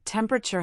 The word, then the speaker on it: temperature: For instance, temperature has stress on the first syllable, temperature.